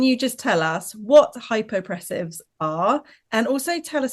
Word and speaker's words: Hypopressives: Hypopressives. Is that right? That's pretty good, to be honest. Okay, perfect. It's It's hypo. Hypo. pressives. Pressives. Okay, we got it.